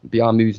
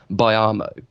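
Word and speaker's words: Biamou: But have you ever in your life heard anybody pronounce Biamu's name as Biamo?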